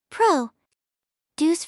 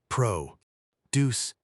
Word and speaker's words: produce: Pro deuce for vegetables. Pro deuce.